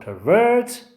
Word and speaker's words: pervert: what does it mean the word pervert pervert has got this this on the second syllable well i told you